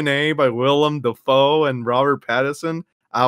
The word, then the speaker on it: Willem: love him so much why don't you say his name right defoe it's willem oh willem whatever [ __